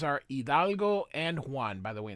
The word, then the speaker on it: Hidalgo: Their names are Hidalgo and Juan. By the way, in Spanish, the H is silent, so it's not Hidalgo, it's Hidalgo.